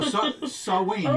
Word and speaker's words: Samhain: No, Samhain, you're right.